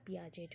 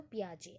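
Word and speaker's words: Piaget: That is ये आपका पियाजेट होगा या फिर आप बोलते हो पियाजे. एक्चुअली पियाजे है, आप लोग स्पेलिंग वाइज याद रखते हैं तो पियाजेट बोल देते हैं. तो पियाजे है.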